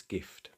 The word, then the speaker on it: gift: Gift, hard G, a renegade, a G followed by I, but a common exception.